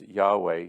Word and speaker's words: Yahweh: word Yahweh it's um in the Hebrew language y h w h and then they put in the vowels A and E and so we would pronounce that as Yahweh here God is indicating